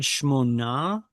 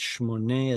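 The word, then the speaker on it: שמונה: You said Shmona, Shmoneh. but it's Shmoneh Esrei Amma.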